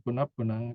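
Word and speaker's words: punappunaṃ: same every time, punap-punang, punap-punang, okay? Punap-punang without 2 same words, puna plus puna. So you put an extra P in between so that you can pronounce it more easily, punap-punang, right?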